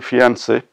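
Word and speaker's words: fiancée: pronunciation is concerned okay when we add an extra e to fiancee the meaning changes the gender changes but the pronunciation remains unchanged so the feminine gender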